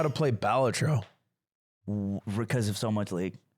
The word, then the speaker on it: Balatro: That's pronounced balatro, not I balatro.